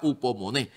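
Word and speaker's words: ὑπομονή: y dice que se se pronuncia en el griego hubo Money imagínate y Qué significa upomoné dice que significa perseverancia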